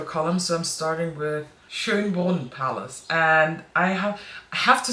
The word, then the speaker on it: Schönbrunn: But if you have troubles pronouncing that name, it's Schönbrunn. S-C-H and this O with the little dots, the Ö. I know it's really hard for non-German speakers. There is this meme on the internet of a cat that is like puking up, and that's basically how you pronounce it, like it's Ö.